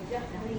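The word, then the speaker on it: جهري: nafsika wadunal jahri minalqallahul Bukan haji ya. Jah. Jahri jim bukan ha.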